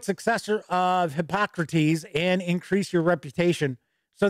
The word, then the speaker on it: Hippocrates: brewer in q1 is hypocrates and here's the deets on the game and yes i know how to pronounce hippocrates i'm just channeling my inner bill and ted travel back to